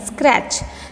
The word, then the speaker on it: scratch: this word next one scratch scratch SC in the scratch word t is not sounding so scratch T is